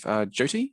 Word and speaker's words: Jyoti: Moving on, we have bug triage with Jyoti. Is that how? Apologies on pronunciation. No, it's perfect. Hi, my name is Jyoti.